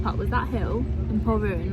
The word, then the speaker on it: Polruan: Polruan.